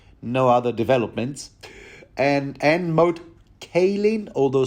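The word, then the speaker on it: Moat Cailin: other developments and and mode k although someone assures me it's pronounced mod Kalan uh not to mention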